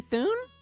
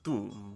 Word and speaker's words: Thune: Are you Thune? My name is, it's pronounced Thum, but yes, I am.